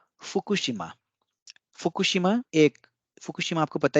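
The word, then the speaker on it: Fukushima: साल पहले खुशी मां अब फुकुशिमा को कैसे उच्चारण होगा कोशिमा अच्छी यहां पर जो और ख के बीच में जो यू की मंत्र है यह डिवाइस होगा लेकिन और के बीच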